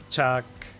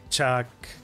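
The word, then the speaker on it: Chaac: Chuck. Chuck.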